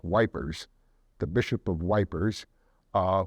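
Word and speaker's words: Ypres: a bishop in Belgium the bishop of EP y PES during the first World War the British soldiers pronounced that wipers the bishop of wipers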